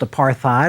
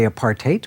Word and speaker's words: apartheid: I'm sure that you've seen it and heard it many times, often pronounced apartheid or what have you, technically apartheid, but in any case,